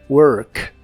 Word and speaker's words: work: r de esta palabra se pronuncia con la lengua lo más atrás posible y suena como work work puedes hacer ideas como